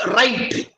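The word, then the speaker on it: write: W-R-I-T-E is right. You don't pronounce it with W.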